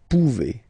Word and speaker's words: pouvez: A Z like that, okay? Remember, you pronounce it E, okay? Vous pouvez.